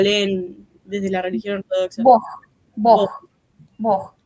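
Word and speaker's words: Бог: Bog. La G se pronuncia como J. Bog.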